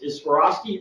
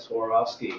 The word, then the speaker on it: Swarovski: we use here is if if you skied for years and you get older you don't want us anymore and you swore off skiing that's one way to really kind of pronunciate it out helps people understand it